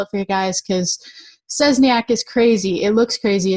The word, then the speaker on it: Szczesniak: I'm going to spell it for you guys because Szczesniak is crazy.